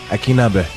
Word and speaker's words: Akinnagbe: Akinnagbe.